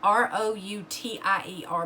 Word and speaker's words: Routier: of back story on darley routier um and that's spelled r-o-u-t-i-e-r but it's pronounced routier um darley was born